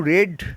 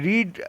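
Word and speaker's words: read: Friends এখানে রিড লেখা আছে আরই এডি? কিন্তু উচ্চারণ হবে রেড। এটা পাস্টে আছে।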